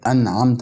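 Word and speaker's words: أنعمت: الايه ديت هي كلمه انعمت عليه ما النون هنا ساكنه مش بفتحها ولا بكسرها عشان معنا متغيرش بنطقها ساكنه يعني بظهرها اظهار خفيف اما عمد انعمت علي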